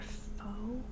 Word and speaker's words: pho: Oh, we should take Matt for They're pho. British chips. For pho? Oh, for Vietnamese? Whoa! Pho. Pho. Like, oh, fuck you.